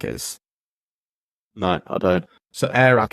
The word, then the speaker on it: Airrack: So Airac, it's spelled AIRRACK.